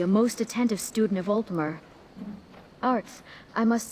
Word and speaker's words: Altmer: And it's Altmer, though I find your mispronunciation rather endearing.